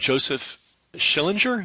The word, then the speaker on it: Joseph Schillinger: I know that the roots of Berkeley was a guy named Joseph Schillinger.